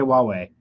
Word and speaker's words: Huawei: a huawei sign asking people how they would pronounce it how do you say wah way okay we're going to post that video later but anyway so it's Huawei so we just talked about how Huawei has